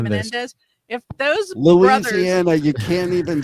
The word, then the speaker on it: Menendez: I guess maybe if the men the men Mendes brother Mendez brothers, that's how you say it. Menendez.